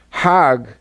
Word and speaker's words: Hajj: go around in circles now Hajj is a pilgrimage hog is the Egyptian pronunciation hug in Hebrew means